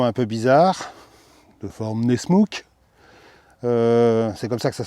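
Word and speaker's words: Nessmuk: Et sa lame de forme un peu bizarre, de forme Nesmouk, c'est comme ça que ça se prononce.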